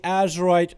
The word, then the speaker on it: Azerite: Quick editor's note, I am reading it as Azerite with a Z. For some reason I've been pronouncing for the whole duration of the video up until now as Azerite. I wasn't thinking of it as Azeroth, Azerite. I was thinking more like Azeroth, Azara, Azerite.